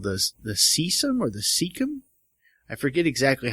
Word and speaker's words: cecum: And then the rabbit knows when it's going to poop out this other cecum. Cecum? It's spelled C-E-C-U-M, so cecum. Cecum.